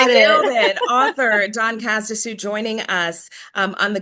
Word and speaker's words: Cazedessus: Don, did I pronounce that correctly? You got it. Nailed it. author Don Casdue joining us um on the good word this week and for this episode.